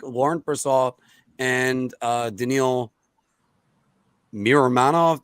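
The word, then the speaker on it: Miromanov: Purcell and uh Daniel mirror manov do I pronounce that right yeah Manoff okay uh Anthony who do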